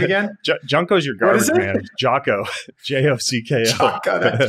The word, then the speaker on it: Jocko: I have my you just call him Junko? Is it Junko? Is it Jocko? How do you say his name again? Junko's your garbage man. Jocko.